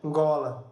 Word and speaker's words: Ngola: Então, essa nasal, ela não é uma sílaba. É ngola. São 2 sílabas só.